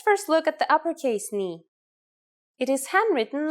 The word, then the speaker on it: ni: The first letter today is a consonant, ni. Yes, pronounced just like the knee on your leg.